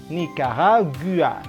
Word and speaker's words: Nicaragua: Nah, jadi ini Ni, K, kemudian Ra seperti garage tadi. Kemudian ada JU. JU berbunyi apa? Berbunyi masuknya ke yang G bukan yang Z. Ya udah jelas, berarti bacanya Nicaragua.